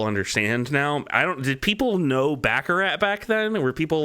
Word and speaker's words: baccarat: Every time they say Baccarat, they say it like Baccarat. Say it very special, not Baccarat.